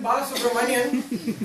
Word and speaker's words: Balasubramanian: I am Balasubramanian, and my last name has 15 letters and 7 syllables, which is like pretty tough to miss.